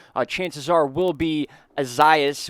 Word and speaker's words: Isaias: chances are will be azias which i believe is the correct pronunciation instead of isaias a lot of you